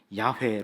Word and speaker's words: 야훼: 발음은 우리가 알았고 어 여호와 라고 하는 이름 야외 로 불린다 라는 입 a 무게가